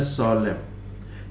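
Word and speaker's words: solemn: ध्यान दीजिए कि इसका प्रोनाउंसिएशन देखिए, यहाँ पर ये एन साइलेंट है, इसका प्रोनाउंसिएशन है सोलेम।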